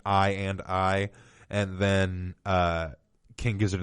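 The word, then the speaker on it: i,i: i come i i which is pronounced i and i and then king gives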